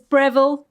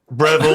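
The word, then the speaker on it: Brevyl: My name is Brevel. Brevel. Brevel. It's spelt like barrel. What? But with a b r e v y l.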